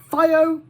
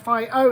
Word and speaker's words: FIO: about a project called fio or fio now vo fio f i o i'm gonna go with fio i think that that's probably how it's meant to be pronounced fire is a project